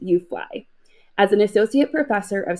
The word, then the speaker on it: UFLI: Lane is the director of the University of Florida Institute, aptly pronounced UFLI.